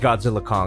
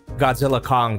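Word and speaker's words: Godzilla x Kong: of uh Godzilla Kong trailer and it is pronounced Godzilla Kong I saw a clip of Adam winguard pronouncing the name of his own movie and he pronounces it as Godzilla Kong the new Empire the ex silent like Hunter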